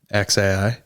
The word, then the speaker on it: xAI: It's just X, like the letter X, then AI, like how you would say A, then I. XAI.